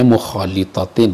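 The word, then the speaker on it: مخالطةٍ: Bacanya mukhalitatin ya, sebagai sifat dari ainin mukhalitatin fihi, kalau dibaca begitu.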